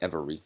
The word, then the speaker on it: every: every some people say every but it's really every it's really two syllables every day it gets smashed together the e the second e is sort of is silent um so let's just